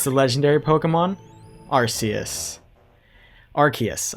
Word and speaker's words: Arceus: Arceus, I think is how it's actually pronounced.